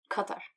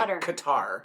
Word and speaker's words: Qatar: Qatar. I was going to say Qatar, but that's not the right way to pronounce it.